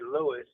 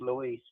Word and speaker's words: Luis: Normally people don't call me Louisis because honestly it's it's pronounced Louise.